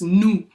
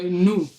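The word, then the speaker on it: Ntu: So it's South African accent but the T now in our in a way we pronounce it is like heavy on your tongues new. Okay. Yeah. It's N T U. So new and we have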